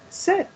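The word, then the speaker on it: sept: underneath these and seven do you say seven in french set that's right so 17 is st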